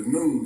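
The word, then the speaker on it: Nun: The Egyptian sciences tell us that everything that exists came forth from something called the noon, N-U-N, the noon. It's pronounced just like noontime, and it's a reason for that.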